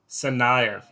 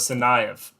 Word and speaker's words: Tsarnaev: actually have some pronunciation the t is silent tsarnaev all right we're going to go with tsarnaev from my uh my